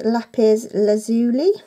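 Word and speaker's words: lapis lazuli: one next step I purchased from H&M where lapiz lazuli that's how you say it basically I've just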